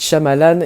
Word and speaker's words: Shyamalan: mes yeux très bons m night shamalan oui le y ne se prononce est un réalisateur que